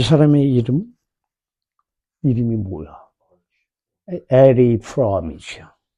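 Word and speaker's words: Erich Fromm: 에리 프롬이죠. 에리 프롬. C 발음이죠. CH가 원래 얘네 나라에서는.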